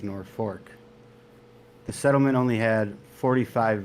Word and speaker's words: Norfolk: was transmuted to Norfolk Nebraskans typically pronounce it as North Fork the settlement only had